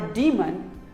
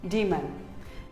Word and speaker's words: demon: similarly here's another word it is not daemon or demon it is d man demon here are some more